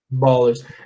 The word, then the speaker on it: abolished: Aí quando você acrescenta o ED, você pronuncia um T, ó. Abolished. Abolished. Igual washed. Abolished.